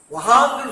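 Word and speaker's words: वहाँ: அதே மாதிரி பாருங்க, வ ஹ துணை எழுத்து இங்கு வஹாம். இங்க சொல்லுங்க பார்ப்போம். வஹாம். வஹாம்னு சொல்லக்கூடாதுங்க, வஹாம்.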